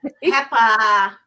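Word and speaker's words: Pepa: Peppa.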